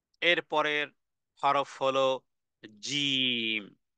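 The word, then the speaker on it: ج: এরপরের হরফ হলো জিম এটি পাথরের মতন শক্ত বলা যেতে পারে পাথরের মতন শক্ত করে মানে উচ্চারণে ধাক্কা দিতে হবে এবং উচ্চারণ হবে কোত্থেকে জিহ্বার মধ্যখান জিহ্বার মধ্যখান থেকে এটাকে উপরের যে তালু আছে সেই তালুর সঙ্গে লাগিয়ে দিতে হবে এবং অনেক লম্বা একটা টান দিতে হবে বলা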